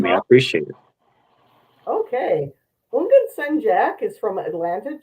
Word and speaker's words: Houngan: It's like the H is silent, so like Houngan. Houngan.